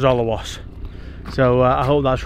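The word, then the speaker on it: Alrewas: And we're just leaving Olawas. I hope I pronounced that right because everybody pronounces it different, but as I understood it, it was Olawas.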